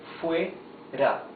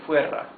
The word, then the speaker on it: fuera: Fuera. Fuera de. See that, check out that here it has 1 single R, so it is a smoother sound of the R. It's r, okay?